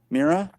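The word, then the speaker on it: Mira: Um Mara Maria is how you say her name? Mera. Mera.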